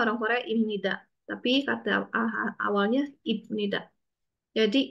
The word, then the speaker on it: 입니다: Tapi bacanya orang Korea Ibnida.